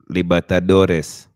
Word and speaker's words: Libertadores: How do you pronounce it, Josh? Libertadores.